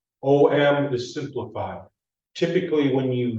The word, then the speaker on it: Om: shouldn't say properly but the way you pronounce it is you pronounce each letter each letter oh hey you